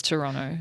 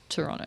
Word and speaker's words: Toronto: something about Toronto and we pronounce the second T in Toronto and I was like not anymore it doesn't exist just like the second